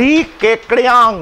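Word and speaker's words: Li Keqiang: इ Xi Jinping who इज the president and ली केकड़ यांग हु इज the prime minister that is the correct pronunciation of this name now ट्स an awkward pronunciation but ट्स हाउ it's pronounced so ली केकड़ यांग इज the prime minister and Xi Jinping is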